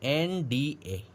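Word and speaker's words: NDA: तो उच्चारण हो रहा है हिंदी के स्वर के समान, उच्चारण स्वर के समान हो रहा है, तो स्वर के समान अगर उच्चारण होता है तो वहां पर आर्टिकल में किसका प्रयोग करते हैं?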